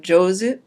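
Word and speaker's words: 上手: And then with some alternative readings, we have jozu, right, to be good at something, upper hand.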